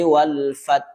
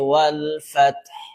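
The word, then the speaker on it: والفتح: Idza jaa nasrullahi wal fath. Wal fath. Jangan pula ee terlalu terang sekali huruf tanya-nya. Wal fatah. Nah, ini juga salah ya.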